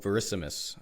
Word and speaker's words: Verissimus: are excited about, called Verissimus. I think I got that pronunciation Yeah, right.